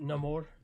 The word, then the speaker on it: Namor: I I got pretty good with Neymar. They still pronounce it Namore. Um, Namore, which, um, I kind of I do like the like, you know, the South American angle, though.